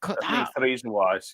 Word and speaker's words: Theresienwiese: Theresienwiese, yes.